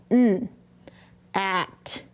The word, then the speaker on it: gnat: Gian says N. At. Nat.